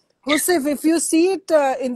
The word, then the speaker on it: housewife: Actually, it is pronounced Hosef. Hosef.